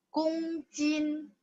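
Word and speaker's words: 公斤: 公斤. G baca K. O-nya dibaca sedikit agak U ya.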